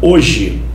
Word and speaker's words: hoje: são dois sílabas Beleza o h você sabe que ele não é pronunciado na palavra hoje não é verdade o